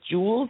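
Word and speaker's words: joules: it has the um it sounds like the word Jewels like you know fancy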